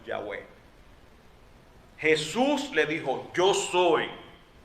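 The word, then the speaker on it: Yahweh: sola palabra yo soy en hebreo es una palabra y se pronuncia y es bueno se produce más o menos yagüe jesús le dijo yo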